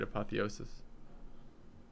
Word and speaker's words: Apotheosis: I think I'm going to take a card removal and an Apotheosis or Apotheos.